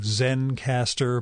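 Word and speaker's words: Zencastr: out more about it it is spelled z-e-n-c-a-s-t-r so zen caster but no final e there's a free hobby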